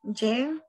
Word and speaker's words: je: Oui, je, tu, il, elle, on, nous, vous, il, elle. Ok, très bien. Nada más en el je, hay que cerrar más la e.